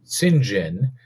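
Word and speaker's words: St. John: it was it was spelled like St John but pronounced singen and you know there's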